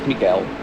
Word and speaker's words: Mikael: Pronounce the name as Mikael. Mikael. Yeah, it's Mikael. He's Belgian. Allee, zat ik moeten geven plaatsen.